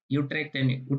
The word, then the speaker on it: Utrecht: Utrecht University, because U is pronounced as U in Dutch.